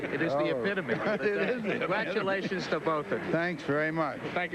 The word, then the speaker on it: Epitome: People are always telling me that they never pronounce this horse's name right. Let's get it straight now cuz people are going to want to know. It is epitome.